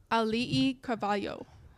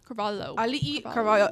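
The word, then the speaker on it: Auli'i Cravalho: Alii Carvalho. Alii Carvalho.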